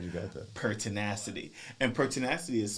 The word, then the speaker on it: pertinacity: And pertinacity is spelled p er t i n a c i t y.